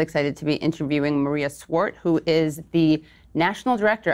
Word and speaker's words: Svart: And I just want to put it out there, everyone, her name is pronounced Svart. It is spelled with a V, but that's apparently silent in the Danish from which it comes.